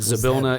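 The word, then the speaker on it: Zybilna: um as a warlock I kind of sense sablina is no I keep saying it wrong it's a bill no that zabilna is no longer in touch with me not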